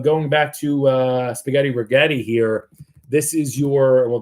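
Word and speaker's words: Rigetti: Rhymes with spaghetti. Um although if you got long in the past week, you should be eating ramen. Uh this thing down 10% today. Regetti Computing.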